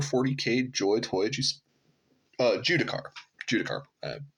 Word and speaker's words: Judicar: for the Warhammer 40K joy toy uh judicar judicar I pronounced that wrong at the first part of